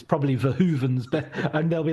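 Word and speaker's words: Verhoeven: I was told by a Dutch friend it's Paul Vahhooven and and then I'll I'll drop it into conversation.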